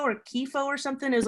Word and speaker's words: kitfo: What about part of the pronunciation, but kitfo or kifo or something is like, Oh yeah, kitfo.